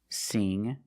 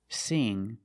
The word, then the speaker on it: sing: So when you see words like wing, sing, and bring, you see the combination of ing, you know it's a long E sound like green beans. Listen to the sound. Wing, sing, bring. That's a long E, not a short I.